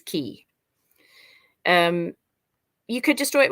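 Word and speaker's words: χ: someone will tell me it's key the x is key um you could destroy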